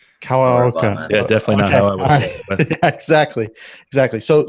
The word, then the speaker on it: Kawaoka: you how do you say your last name coloca yeah definitely exactly exactly so so Lane is